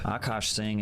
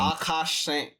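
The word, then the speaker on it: Akaash Singh: Akos Singh is mostly known as being the sidekick to what?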